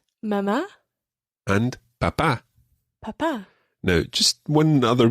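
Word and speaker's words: papá: say mama mama and papa papa now just one other thing we mentioned accents already mama and papa both have accents on the last syllable normally spanish words are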